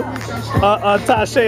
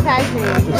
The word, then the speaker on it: Tajay: Tashay, how you doing? Hot today. Oh, it's hot today, huh? No, she was saying my name is Tajay.